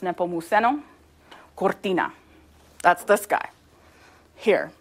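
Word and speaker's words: Nepomuceno: this dude Juan and his middle name is pronounced nepo muso Cortina that's this guy here so we're going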